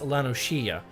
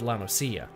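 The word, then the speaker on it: La Noscea: It's supposed to be Lanoshia instead of Lanosia.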